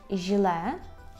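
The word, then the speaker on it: żle: Наприклад, у слові «жле», «жле», «жле» означає «погано», або у слові «іч», «іч», там навіть такий «дж» маємо, так?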